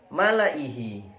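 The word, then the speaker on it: مَلَإِي۟هِۦ: bighidikum innallaha alimum bidzatiur selanjutnya malaihi, hati-hati, 'la' dibaca pendek.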